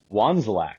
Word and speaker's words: Wandzilak: Please pronounce your last name for us. Wanzlac, or as I tell everyone when they ask how it's pronounced, I say carefully.